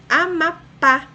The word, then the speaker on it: Amapá: Amapá. Amapá, a sílaba mais forte, de maior intensidade pronunciada, mais forte é pá, a última sílaba, oxítona.